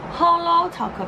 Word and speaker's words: Holo Taco: I always pronounce as Halo, Halo, Halo. It's Holo Taco because it's Holo.